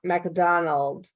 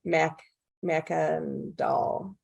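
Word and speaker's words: Mackandal: how france uh how francois mcdonald oh my gosh i said that last name wrong mac mackendall thank you so much i knew i said that wrong how was he instrumental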